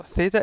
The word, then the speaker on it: Theta: usually the angle so Theta is pronounced as a th uh as a th when you have like as in like just it's just a th and when you say